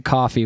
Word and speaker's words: Ko-fi: So there's a link in this video, and it's a link to coffee, which is spelled KOFI.